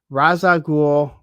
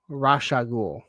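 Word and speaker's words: Ra's al Ghul: Matthew Madison, I wish you pronounced his name in one of two acceptable ways. Raza Ghul, Rasha Ghul.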